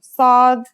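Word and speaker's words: صاد: saw this sound is pronounced with your throat constricted listen to sod and scene with the vowel alef we learned in the first lesson here's the difference you'll have to do this for a few more letters later on so please get used to using your throat like this let's write it down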